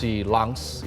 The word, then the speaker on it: Lens: mereka main di ars langs itu tulisannya lens ya bacanya kan langs Kalau bahasa Prancis katanya begitu nah eh Abdul Kadir